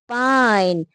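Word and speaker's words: pine: लेकिन जैसे ही साइलेंट ई यहां पर लगता है तो क्या बन जाता है? पाइन। आई का साउंड क्या हो गया? पाइन।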